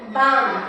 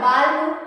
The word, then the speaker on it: balm: उसी तरह BALM बाम, जैसे होगा बालू, ऐसे तो पढ़ोगे तो बालू बनेगा। हम गलत इसलिए पढ़ के बता रहे हैं कि आपको समझ में आए कि इसमें एल नहीं बोलना है, ठीक है?